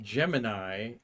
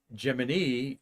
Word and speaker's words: Gemini: about NASA said that we're pronouncing this program not Gemini like the constellation in the sky but gim like Walt Disney's Jiminy Cricket in Pinocchio and I'm going to